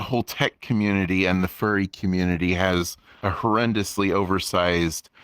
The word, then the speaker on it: Fjrn: question for you um yes I everyone pronounces it Fern but but fur is good too um and that's the official